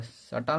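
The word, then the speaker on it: subtle: जब थ्योरी करा है, जब किसी शब्द में बी के बाद टी आए तो बी साइलेंट हो जाता है, यानी बी के बाद टी आए तो बी साइलेंट हो जाता है।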